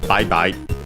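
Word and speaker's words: バイバイ: in katakana and is bye-bye from English. Uh accented on the first syllable, bye-bye.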